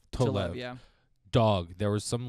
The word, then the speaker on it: Tolev: Am I pronouncing her last name Tolev. correct? Tolev, yeah.